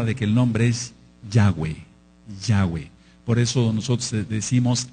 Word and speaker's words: Yahweh: Entonces no hay ninguna duda de que el nombre es Yahweh.